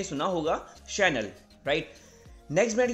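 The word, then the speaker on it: Chanel: Next brand की बात करते हैं चैनल, नहीं, इसको प्रोनाउंस करेंगे चैनल, राइट। तो ये ब्रांड है फ्रेंच का, ये परफ्यूम, ड्रेस एंड बैग्स बनाता है, राइट। इसको आप प्रोनाउंस करेंगे शैनल, शैनल।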